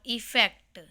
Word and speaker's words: effect: English vocabulary words में today we will learn difference between अफेक्ट और इफेक्ट। दोनों की प्रोनाउंसिएशन डिफरेंट है, एक की है अफेक्ट, एक की है इफेक्ट। अफेक्ट और इफेक्ट।